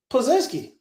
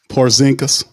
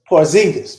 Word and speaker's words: Porzingis: how the hell Micah Peavey is guarding uh Pazinski. Wait, did I say his name right? Uh, talking about the the the unicorn. They gave him the nickname unicorn. Porzingis. Porzingis.